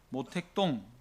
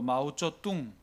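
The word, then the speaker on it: 毛泽东: 공화국으로 출범을 다시 하면서 모택동 중국 발음으로 마오쩌뚱 중국 사람들이 그냥 쉽게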